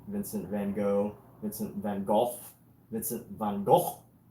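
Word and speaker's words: Van Gogh: Vincent Van Hawk I think that's how Dutch pronounce his name is Vincent Van Go Vincent Van Go.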